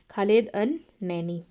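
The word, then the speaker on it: Khalid El-Enany: यहां पे ई आपका साइलेंट है खालिद अल नैनी।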